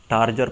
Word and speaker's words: turgor: यहाँ पर ये पॉइंट भी नोट करें, ये जो वर्ड है लतीन वर्ड टार्गर और ये टार्गर, इसकी प्रोनाउंसिएशन जो इसमें कोई डिफरेंस नहीं है, सिर्फ इसकी स्पेलिंग जो है ये डिफरेंट है।